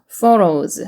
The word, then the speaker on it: photos: photos. 그래서 phf 발음이고요.